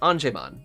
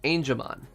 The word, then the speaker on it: Angemon: when they're not so it should be angelman is the way it's supposed to pronounce as an angel not anjemon as i keep saying it's angemon and i gotta get used